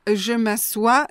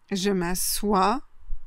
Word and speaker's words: je m'assois: Il a deux conjugaisons différentes. Donc, du coup, deux orthographes différentes et deux prononciations différentes. Donc, je m'assois, je m'assieds. Je m'assois, je m'assieds.